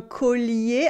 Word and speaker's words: collier: We have L-L-I, but it's not E-L-L. So the two L get to keep their sound. We say un collier, okay? But we have a y sound at the end. It is collier, collier, collier, collier.